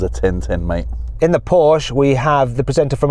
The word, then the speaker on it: Porsche: Well, it's Porsche, so you just have to put a little bit of attitude at the end, then it's correct.